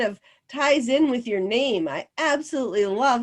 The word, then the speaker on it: GNAMP: oh that's just fine because then they're saying the gnamp group so that sounds cool too yeah that's totally fine i'm not i'm not too worried about people mispronouncing it but um so nam stands for it's all of